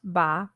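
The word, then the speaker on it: 八: the word for eight ba rhymes with the word for good fortune fah sticky rice flour really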